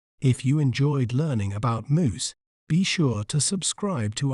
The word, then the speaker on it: mousse: may pronounce it as moose moose the letter e at the end is silent moose moose is often enjoyed